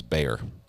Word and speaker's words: Bexar: Yeah, I pronounced it Bexar the first time, and I got corrected right away, and it was Bexar.